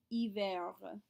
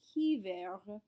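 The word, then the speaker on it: hiver: finally winter we have iver you remember we do not say h's at the beginnings of words so it's not he ver it's remember as well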